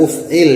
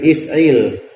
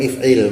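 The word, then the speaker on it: اِفْعِلْ: Untuk diketahui ya bahwasanya kemarin untuk fi'il amrnya ini bukan uf'il ya, tapi if'il. Ini bukan harokat yang di sini ya. Itu bukan harokat, jadi bacanya if'il bukan uf'il ya.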